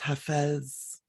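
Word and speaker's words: Hafez: excerpt um from a Persian poet named haiz um sometimes pronounced hes anyway stay close to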